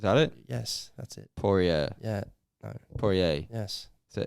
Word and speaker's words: Poirier: A lot of people mispronounce his name. Poirier.